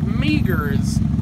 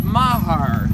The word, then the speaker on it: Mahar: the Mahar drugstore looks it's spelled like Meers but it's Mahar I've been corrected many times so you're lucky that